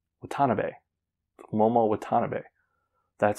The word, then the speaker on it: Watanabe: But the thing I don't understand is I am like 95% sure Momo's last name is pronounced Watanabe.